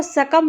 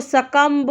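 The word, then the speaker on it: succumb: तो इसको आपको सकम पढ़ना है, इसको सकम्ब नहीं पढ़ना है, क्योंकि जब भी एम के बाद बी आता है तो बी क्या होता है, साइलेंट मोड में रहता है।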